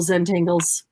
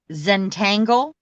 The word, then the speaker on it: Zentangle: doodling with a purpose like Zentangle like Zangle like Ze n t n g one word spelled like entangle right yes with a z okay correct that is